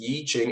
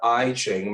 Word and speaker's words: I Ching: Some of the systems of divination are the Yi Ching, and the Yi Ching is pronounced Yi Ching. It's not the I Ching.